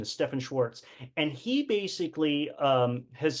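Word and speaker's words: Stephan Schwartz: is stepan Schwarz I used to call him Steven Schwarz but the correct pronunciation is Stephan Schwarz and he basically um has studied a lot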